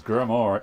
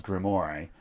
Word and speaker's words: grimoire: and terrible um and it originated from me mispronouncing grimoire as grimore um which was genuine I just literally thought that's how you said it because there are there